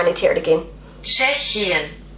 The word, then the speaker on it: Tschechien: Tschechien.